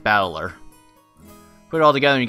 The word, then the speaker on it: Battler: japanese pronunciation so far problem is my given name it's made up of characters for fight in person and it's pronounced battler put it all together